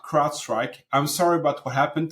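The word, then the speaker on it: CrowdStrike: in the security Community call it Cloud strike they're mispronouncing it or they're calling IT Crowd SEC by accident so crowd strike is the you know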